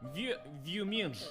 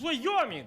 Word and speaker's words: Wyoming: He say, Boris, how do you pronounce this? And of course I said, Vyoming. And he say, no. It's Wyoming.